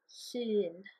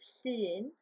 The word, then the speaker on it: Llun: There's no equivalent sound in English, so I think, imagine it's like spelt with an IR maybe, E, like this. And for example, you could say Llun. So dydd Llun, it's Monday, Llun.